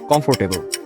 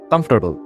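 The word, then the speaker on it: comfortable: শুরুটা করবো আমরা বাঙালিরা যেটাকে বলে থাকি কমফোর্টেবল। আমাদের এই কমফোর্টেবল উচ্চারণটা আসলে কমপ্লিটলি ভিন্ন। এটার আসল প্রোনাউন্সিয়েশন কমফোর্টেবল। কমফোর্টেবল। এখানে আপনি খেয়াল করবেন ফর উচ্চারণটা রিপ্লেস হয়ে TUR দিয়ে রিপ্লেস হয়ে যায়।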